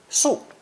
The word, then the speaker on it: 宿: It's pronounced fourth tone, su, su.